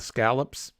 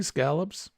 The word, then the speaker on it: scallops: I'm a trained professional that's how you say it in the South scallops you can say scallops just if you come up north be prepared to be corrected thank you Denise I'm